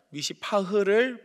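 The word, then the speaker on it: מִשְׂפָּח: 미시파트를 바랬지만 미시파흐를 보여준 거죠. 말장난 같죠. 정의를 바랐으나 포악을 나타냈다. 미시파트를 원했으나 미시파흐를 행한 것이죠.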